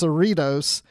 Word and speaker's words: Cerritos: they're saying the USS Saratoga and whatever they pronounce it but it's Cerritos after the town in California which we mentioned